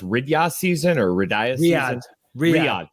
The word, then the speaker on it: Riyadh: out there for tourism for, I think it's pronounced Riyadh season or Riyadh season. Riyadh.